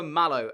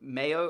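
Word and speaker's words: Mallo: So, last episode, I was saying Hugo Malo, which, as you guys have pointed out, in Spain, they don't pronounce it as Hugo Malo. Is it Mayo or Hugo Mayo?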